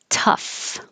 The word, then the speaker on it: tough: sound ooh through and tough crazy o-u-g-h here sounds like off o-u-g-h here sounds like